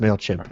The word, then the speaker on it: Mailchimp: It's pronounced MailChimp, Aaron.